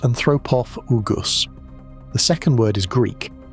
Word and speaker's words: anthropophagus: There's a related species from Olduvai Gorge in Tanzania that got named Crocodylus anthropophagus, pronounced anthropophagus.